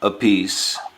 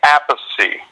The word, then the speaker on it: Appice: guys crack me up carmine pronounces his name a piece well I say apathy carmine says a piece and the third brother Frank says a peach the Italian way it's pretty crazy yeah